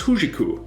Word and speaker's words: HJK: Helsinki or just huu that hjk abbreviation in Finnish is pronounced as huu much easier than hingu Victoria Sport Club formed